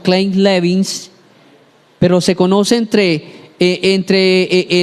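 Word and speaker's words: Kleine-Levin: conoció un síndrome que en inglés se pronuncia como clin levins Pero se conoce entre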